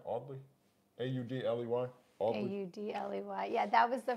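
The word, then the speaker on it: Audley: in all the in all that's how you pronounce it right oddly a-u-d-l-e-y-u-d-l-e-y yeah that was the first printer that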